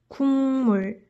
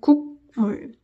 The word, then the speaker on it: 국물: So the correct way, the standard way, the most natural way to pronounce this word is actually 국물 rather than 국물.